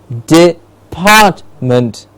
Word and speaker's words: department: We have digit, digit, department, department, part gets a clear say, department.